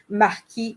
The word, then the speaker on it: marquis: things in french so so our marquee okay like the marquis of you know uh a film theory there right so machi is the proper french uh pronunciation of the word um